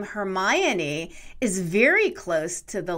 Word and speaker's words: Hermione: how are you pronouncing hermione hermione no it's hermione it's not hermione okay all right hermione it's a four-syllable name in the show it's